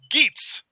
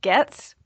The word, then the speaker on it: Goetz: It's actually pronounced Goetz. So I just tell people to pretend the O is not there.